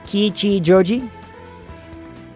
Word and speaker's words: Kichijoji: Each syllable in Japanese gets the same enunciation, generally. Yeah, generally. You kind of blended the ki and chi. Try not to do that. Right. You're right. Kichijoji.